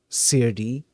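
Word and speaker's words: serde: they had I think they had brought up crd um cuz Okay somebody here mentioned that it's supposed to be pronounced CR d as in serialization and deserialization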